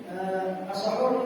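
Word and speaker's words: سَحور: Padahal itu as-sahur yuftahul sin wa yuqalu sahur. Sahur adalah dengan membacanya dengan mematahkan sin huruf sin as-sahur, yaitu baik huruf sahur dimakan seperti malam ya, di pertengahan malam.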